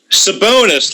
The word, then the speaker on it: Sabonis: man from Gonzaga bonus that's how you pronounce it sabonis like our buddy that used to play with Portland oh okay he played uh 21 and 16.